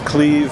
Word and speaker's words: Cleve: little conversation what's your name my name is cleave it's spelled CLE V and uh what what